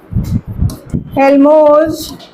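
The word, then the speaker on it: Helmholtz: And this reaction is known as Gibbs हेल्मोस reaction T यहां पर silent है।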